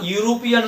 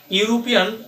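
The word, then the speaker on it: European: এরকম একটা এক্সাম্পল আমরা দিতে পারি যে হি ইজ আ ইউরোপিয়ান student. ইউরোপিয়ান শব্দটি শুরু হয়েছে ভাওয়েল দিয়ে, বাট আমরা উচ্চারণগত সমস্যার কারণে, উচ্চারণটা ইউ এর মতো হওয়ার কারণে আমরা এখানে এন না বসিয়ে এ বসাচ্ছি।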